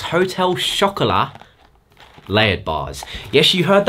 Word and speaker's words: Hotel Chocolat: Item numero uno is the MyProtein X Hotel Chocolat layered bars. Yes, you heard that right. Hotel chocolate, hotel chocolat, if you pronounce it properly, as in hot chocolate